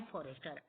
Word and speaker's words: Forestier: Ma'am फॉरेस्टर। इसमें जो spelling है MME, ये मैडम की शॉर्ट फॉर्म है मैम फॉरेस्टर। और स्टूडेंट, आप फॉरेस्टर की स्पेलिंग में भी थोड़ा सा ध्यान देंगे, FORESTIER।